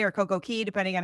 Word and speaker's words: Coco Cay: for years was called Coco Cay or Coco Key, depending on how you pronounce it. It's pronounced Key. Yeah. It's spelled C-A-Y.